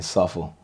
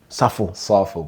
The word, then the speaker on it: Sarfo: Safo. Safo.